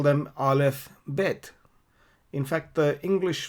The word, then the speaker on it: Aleph: You pronounce it Aleph.